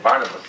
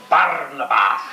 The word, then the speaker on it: Barnabas: You know here with the most of the people in in this company in English would say Barnabas but down there was Barnabas and that was exactly the whole style of love this drooro.